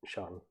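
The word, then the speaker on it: 生: And then sheng rhymes with hung.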